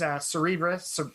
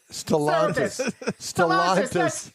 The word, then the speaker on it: Stellantis: I guess nowadays, Cerebras, I can't remember how you say it. Stellantis, Cerebras, Stellantis, Andy.